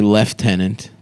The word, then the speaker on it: lieutenant: British people say lieutenant. Yeah. Instead of lieutenant.